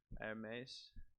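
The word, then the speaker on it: Hermès: The H is silent, mother. Hermes.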